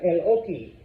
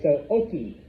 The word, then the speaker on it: hockey: If you want to know what hockey is, yeah, el hockey, all right? You can't pronounce the H though, all right? So hockey, all right?